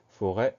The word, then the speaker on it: forêt: Donc on fait attention à ces deux choses, l'accent circonflexe sur le E et le T muet. Pour le reste, la première syllabe fort, c'est facile. F-O. Forêt, F-O-R-E, accent circonflexe, T.